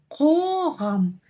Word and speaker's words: Қоғам: Нужно просто откашляться через букву К. К, К, К. Қоғам. И вот здесь как раз-таки уже соблюдаются правила грамматики. То есть как пишется, так и читается. Написана буква О, значит и читаем через букву О. Қоғам. Написана буква А, ну, соответственно, читаем через букву А.